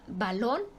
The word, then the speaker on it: balón: a izquierda por ejemplo la palabra balón su es aguda su sílaba tónica está en lon la última sílaba y